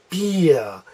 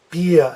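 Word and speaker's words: Bier: use beer and vine BIA has E as a second letter so it sounds like a e BIA BIA and vine as I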